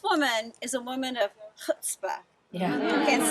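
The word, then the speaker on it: chutzpah: is a woman of hutzpah yeah we can say that Ronon was trying to teach us how to say it I can't get the guttural quite right but but husba is that determination its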